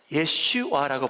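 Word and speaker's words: ישוע: 저희가 말하는 예수라는 단어, 제스라는 단어를 어떻게 발음하냐면요. 예슈와라고 발음을 해요. 그래서 하나님께서 독생자를 보내시는데 하나님 아버지께서 직접 이름을 지워 주시는데 예슈아라는 이름을 지어 주십니다.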